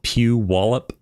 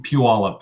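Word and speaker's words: Puyallup: I can't pronounce that that City it's you pronounce it pew wallup pew pew wallup yeah PE yeah there's lots of old you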